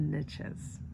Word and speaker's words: niche: Riches in the niches reaches in the niches. Every country, every pronunciation is different, but it rhymes niche. Rich.